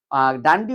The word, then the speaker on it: ডান্ডি: না আসার জন্য গান্ধীজি ডান্ডি অভিযানের প্রস্তুতি শুরু করেছিলেন। তো ডান্ডি অভিযান ডান্ডি অভিযানকে ড্যান্ডি অভিযানও বলা হয়।